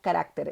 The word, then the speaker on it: carácter: encanta esta lista porque estas palabras son las únicas palabras del español que estando en plural van a cambiar el lugar de su sílaba tónica en singular carácter en plural caracteres en singular espécimen en plural especímenes en singular régimen en plural regímenes bien lo voy a